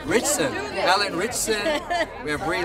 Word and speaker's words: Ritchson: Alan Ritchson. Yeah, Alan Ritchson. Ritchson, right? Richardson? Ritchson.